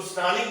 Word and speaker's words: snarling: इसमें are silent होता है तो स्नार्लिंग बोलते हैं.